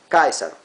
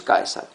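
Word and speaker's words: Caesar: Bueno, sí, me van a decir César, pero en latín esa es la versión en español. Kaisar. Sí, Caius. Julius Kaisar. Uy, ahí, ahí se ve bien, perdón. Ahí Caius. Julius Kaesar.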